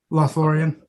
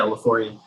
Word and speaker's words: Lothlórien: Where how do you pronounce the name again? Lothlórien. Yeah, Lothlórien.